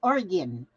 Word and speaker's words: Oregon: And so I had to learn how to say Oregon. Then I said, well, why didn't they spell it Oregin? Gin. Instead of O-N.